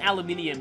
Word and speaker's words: aluminium: hellish pacifier is is aluminium I think it is poisonous actually oh yeah it's pronounced aluminium in British and Australian English um and it's aluminum